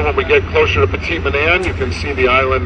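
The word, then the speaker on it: Petit Manan: slowing down here when we get closer to petite Manan you can see the island now is here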